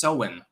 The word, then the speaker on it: Samhain: Some people insist it's pronounced Sowen, by the way.